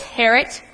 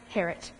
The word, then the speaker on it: Harriet: Agents, I'd like to introduce you to Miss Harriet King. It's Harriet. Rhymes with parrot. I'm sorry? The I is silent. It's pronounced Harriet.